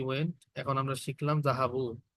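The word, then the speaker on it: ذهبوا: Note that there is a alif at the end of the word which is not pronounced. আলিফ যে আছে না একটা, এই যে জাহাবু, এটা প্রোনাউন্স হয় না। এই আলিফ কি হয় না? প্রোনাউন্স হয় না। লাস্টের যে আলিফ থাকে ওয়ার্ডের মধ্যে, সেই আলিফের, সেই আলিফটা উচ্চারণ হয় না।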